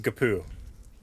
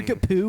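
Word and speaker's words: GPU: the word for it it's pronounced gapu that's true do you game on man i'm like yeah if your kapoo was in an erdex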